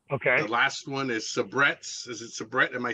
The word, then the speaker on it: Sabrett: Road and uh okay the last one is sabrettes is it Sabrett am I saying it right